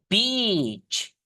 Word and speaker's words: beach: And a beach. Beach. Teman-teman, paling tepat itu memang bacanya ada penekanannya. Beach. Beach. Gitu teman-teman ya. Atau teman-teman beach gitu aja nggak apa-apa. Tapi C-nya itu tebel gitu. Jelas.